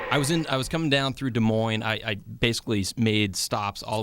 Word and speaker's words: Des Moines: Anyways, I was coming down through Des Moines. I basically made stops all the way across Pronounced the Des country.